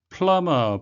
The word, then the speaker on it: plumber: Plumber, 발음에 유의하셔야 되겠는데요. B는 묵음이 되겠습니다.